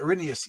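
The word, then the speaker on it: Erinyes: I didn't know how to pronounce it. Arinyas.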